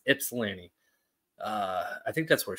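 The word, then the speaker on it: Ypsilanti: is she she's in Yip Salan right I gotta stop saying Yip I was I was told I say that incorrectly you do not pronounce the why it's IPS Lanny uh I think that's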